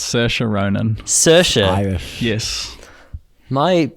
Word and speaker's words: Saoirse: Saoirse. What? Yeah, it's Saoirse Ronan.